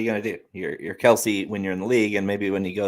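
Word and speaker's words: Kelce: where that was uh yeah of course well kelsey or kels yeah right that was the craziest thing i've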